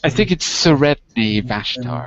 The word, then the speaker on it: Sredni Vashtar: I think it's Sredni Vashtar, I think.